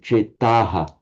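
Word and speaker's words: चेतः: I think you pronounced that rather short. On its own, the word is chetas or chetaha, but here, because it becomes a masculine nominative, you do like chetaha, chetaha.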